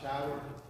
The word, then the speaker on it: Shirah: We brought him to preach for us this morning, Brother Andrew Shirah. Did I say that right? Shirah? Okay. I said it right the second time. I didn't say it right the first time.